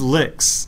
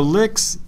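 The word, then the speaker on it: LyX: So, I use LIX, which is, it sounds dirtier than it is, but...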